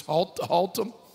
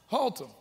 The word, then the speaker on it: Haltom: Under the tent in, how do you pronounce that town? I just figured out Watauga. Now I got this Haltom. Say it again. Haltom.